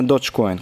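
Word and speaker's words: Dogecoin: по 140 процентов как Dodge Coin кстати правильно Dodge Coin кто мне пишет там doge Coin чуваки правильно Да уж так читается Потому что это не от слова собака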